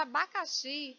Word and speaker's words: abacaxi: A palavra abacaxi, ela não é acentuada, mas eu sei que a sílaba mais forte é xi.